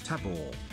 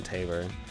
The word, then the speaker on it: Tabor: of the game right it's Tabor tab Tabor Tabor that's much better than Taber it's a lot closer